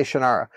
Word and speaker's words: Shannara: And I said, "Well, they say Shannara."